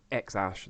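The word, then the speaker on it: X Æ: the Tesla Model X his child is named X Ash that's how it's pronounced and it's written like this x a12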